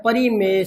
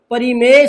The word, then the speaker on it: परिमेय: हैं, जिसे कहते हैं परिमेय संख्या। एक तो थोड़ा सा प्रोनाउंसिएशन सुधारना, इसे परिमेय संख्या कहते हैं, प्रमेय संख्या नहीं कहते।